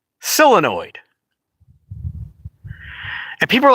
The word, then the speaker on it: solenoid: I've never once heard anybody say, so annoyed. Never heard that in all my American existence. Maybe that's the way they pronounce it in China, or that's how they